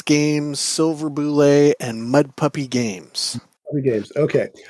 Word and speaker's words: Bulette: It is Bulette, and at North Texas, I've yelled to people